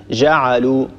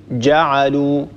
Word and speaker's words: جعلوا: منذ قليل هو أن ننطق الجيم رخوة، ننطق الجيم كالجيم في العامية، يعني نقول مثلا جعلوا، ونقول مثلا وجنة، لا، الصواب أن نقول جعلوا جنة، هكذا ننطق الجيم شديدة لأن الجيم من حروف الشدة ينحبس الصوت عند النطق بها.